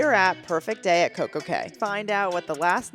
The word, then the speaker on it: Coco Cay: currently at CoCo K which actually if you didn't know it's actually CoCo Key but or Cast Away what or Cast Away no it's not Cast Away um it actually is pronounced CoCo Key but because they like